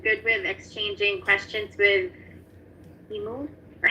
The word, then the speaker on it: Immu: Rita, are you good with exchanging questions with Immu? Or how do you pronounce your name? It's correct what you pronounce. Immu. Oh, okay, I'll call you Immu then.